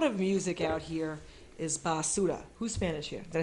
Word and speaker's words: basura: because a lot of music out here is basura.